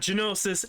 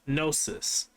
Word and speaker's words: Gnosis: pronounce those two um it's not genosis it's gnosis and it's not kujrog